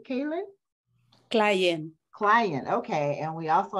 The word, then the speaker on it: Klayen: do you say your last name k kayn clien client okay and we also have Salam clien